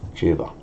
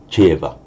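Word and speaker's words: ceva: So Jeva. Incidentally, it would never be reflected in the pronunciation. You just say Jeva.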